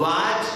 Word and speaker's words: watch: अच्छा, CH से चा बना, WA से वा बना, T का क्या हुआ? अगर इसका मैं सीधे जब प्रोनाउंसिएशन बनाऊं तो वाच बनना चाहिए, वाच बनना चाहिए। बीच में टी है ना, तो टी का उच्चारण बनाओ क्या बने? वाच। लेकिन अंग्रेजी में क्या बना दिया? वाच, टी गायब कर दिया।